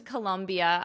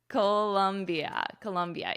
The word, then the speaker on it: Colombia: I've been to Colombia. I know how to spell it. Colombia is with an O, but the pronunciation is exactly the same.